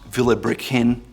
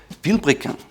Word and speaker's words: Vilebrequin: Not Vilebrequin, it's Vilebrequin.